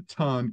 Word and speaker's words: TON: and you know uh it's actually pronounced ton by the way but you can pronounce